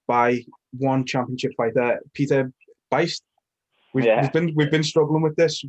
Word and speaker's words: Buist: Yeah, we've heard so many different pronunciations of it. It just went with what felt right. Sometimes it's Buist, sometimes it's Boost.